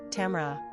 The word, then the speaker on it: Tamara: Pronunciation, Tmar, Tamara.